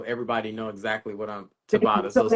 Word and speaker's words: Tabata: sound of this so it's pronounced trata Tabata music sorry I said TR but Tabata music you probably said it